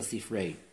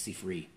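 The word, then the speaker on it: Sifre: a proof from what's known as the sea fray commonly pronounced to see free the sea fray or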